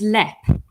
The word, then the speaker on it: Leap: of the castle, and we mispronounce it as Leap, but it's pronounced. Yeah, it's actually pronounced Lep.